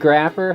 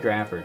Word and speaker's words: Speed Grapher: Speed Grapher, 2005. Grapher like math. Yeah, Grapher like math. But I think it's graph like photography, actually.